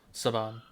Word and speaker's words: Saban: this is Sabin. I don't know how to say it. How do you say it? Saban.